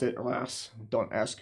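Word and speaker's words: Reims: So this is reams. Uh the French pronounce it ras.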